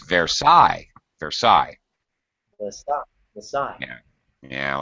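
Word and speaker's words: Versailles: even pronounced it's like Versa you don't pronounce the L's the e or the S there crazy French and their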